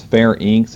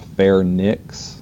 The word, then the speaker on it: pharynx: All right, so that's pharynx, and it is pharynx, it's not pharynx, so be careful about your spelling and pronunciation with that.